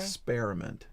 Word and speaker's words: experiment: Exper, like a pear. Experiment. It sounds like it's painful. It's like you're spearing somebody. Experiment. Spearmint. How do you spell it? Experiment. How do you spell experiment? EXPERIMENT. Exactly. ER is not ear, it's air.